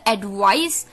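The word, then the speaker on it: advice: शाम का वो है एडवाइस, एडवाइज, एडवाइस, एडवाइस। जी हाँ दोस्तों, प्रोनाउंसिएशन को भी ध्यान से सुनिए। एडवाइस, एडवाइज, एडवाइस, एडवाइज। एडवाइस noun है, एडवाइज वर्ब है।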